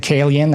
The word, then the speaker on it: Calian: Okay, speaking of under the radar, your second pick is Calian Group. Did I pronounce that right? Yeah, I pronounced it Kalian, I think. Kalian.